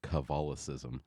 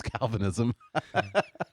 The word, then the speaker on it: Calvinism: no cuz that's about as equivalent as saying Calvinism is Roman Catholic saying the Constitution is communist like that's it's that it's that level um yeah this one lady she would constantly uh call it calicis and I don't think she was doing it